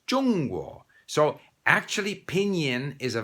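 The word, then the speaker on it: Zhongguo: hwa is china jungwoo pinyin has it z-h-o-n-g we don't have zh in english and it's not zhang guo it's chung-wu so actually pinyin is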